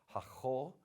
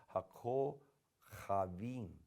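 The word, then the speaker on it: הַכּוֹכָבִים: Because once again, the kaf has a dagish in it here, so it's hakol, which is more of a K, hard K sound. Hakol chavim, hakol chavim.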